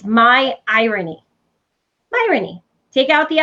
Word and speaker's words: Myrony: Myrony. And people would say, how do you say your last name? And I say, it's like ironic with an M.